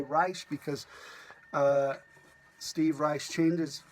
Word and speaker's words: Reich: the way I say rice because Steve rice changes changed the pronunciation of his last name from Reich to rice because of the Third